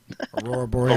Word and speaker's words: Aurora Borealis: Aurora Borealis.